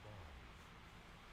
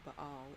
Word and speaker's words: Baal: Oh, he did pronounce it ball. Huh. She too goes by But the I hate that. locals in It would rather be Baal or Baal.